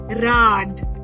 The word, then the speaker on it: Rad: We will read this word as Rad. Rad. So we are pronouncing the R here perfectly because we are starting with the alphabet R.